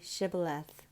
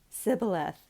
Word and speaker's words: shibboleth: they said to him now say shibboleth and they said sibileth for he couldn't manage to pronounce it correctly Then They seized him